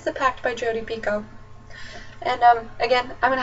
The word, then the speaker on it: Picoult: It is pronounced Picoult, not Picoult. English teacher, 11th grade, met her.